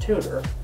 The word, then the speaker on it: 2/ter: edigar tells me that they named this tablet the tutor pronounced tutor because just like having